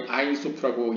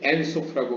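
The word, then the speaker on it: Ein Sof: 보통 이제 한국에서 많이 아인소프라고 얘기하는데 이제 히브리어로는 이제 엔소프라고 발음할 수 있는 이 무한이 가진 10개의 세피롯 이라는 단어가 미드라시에 등장한다고 합니다.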